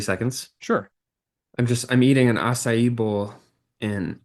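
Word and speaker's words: açaí: Like I've always pronounced it like a kai or a sai or something. I don't know. Okay. Yeah, I mean, Okay. I'm pretty sure it's acai.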